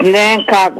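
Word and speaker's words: Onancock: uh anen anen coock I'm trying to say it right h manock Huh it's nancock Virginia nancock Virginia okay okay Al I've been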